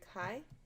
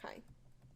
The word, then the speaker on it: chi: little thing this is the Greek letter Chi well then you say like this but it's spelled Zhi but it sounds like Chi now if you have